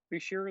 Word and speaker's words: Buchser: end of the night, Buchser. Okay, yeah, that's how you say it in English, in American English. But how my names are pronounced entirely different than how they're spelled.